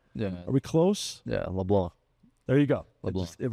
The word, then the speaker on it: LeBlanc: Baldridge and LeBlanc, which, by the way, is the French Cajun pronunciations. It's taken a while for folks to catch on to that because it looks like LeBlanc. But are we finally getting around to saying it right?